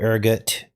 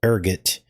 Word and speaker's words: ergot: bloods, the mold, the ergot. I guess it's pronounced, I thought it was ergo, but it's ergot.